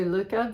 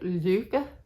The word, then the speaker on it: Lykke: The way that she said it was more like Lykke, and it's beautiful if you know Danish and can speak it well, or know how to say it, but to say Lykke in English, I think just throws everybody else.